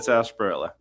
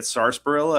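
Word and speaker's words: Sarsaparilla: Sunset sasparilla. Somebody was pronouncing it sarilla. I was like, homie, that's not how you do that.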